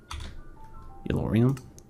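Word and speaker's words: Yellorium: Oh, I was saying it wrong. It's yellow. Yorium. Yorium. We can combine plutonium with yorium which is supposed to be a huh deep slate.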